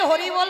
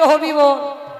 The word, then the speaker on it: হরিবোল: দন্ত পড়ে যাবে, হরিবোল হবে না, উচ্চারণ হচ্ছে হবিবোল, ওটা সেবায় লাগবে না।